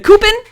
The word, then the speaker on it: Coupon: The Coupon method, the Coupon rhymes with poopin', has nothing to do with that, but it's funny to say.